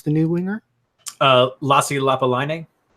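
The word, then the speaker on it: Lappalainen: Lassi Lapalainen. Lapalainen. I had to watch the Montreal highlight video a few times, but it's Lapalainen.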